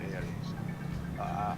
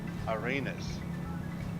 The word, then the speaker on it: Arenas: our well there, and we're going to Punta Arenas. No, Arenas. Punta Arenas.